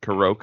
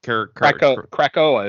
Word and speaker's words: Krakoa: There is, I guess, a new character called Captain Karoka or Krakoa is how I would pronounce it, which was the island that they were on.